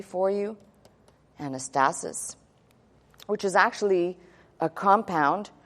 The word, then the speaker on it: anastasis: And let's write this out phonetically for you. Anastasis, which is actually a compound from two words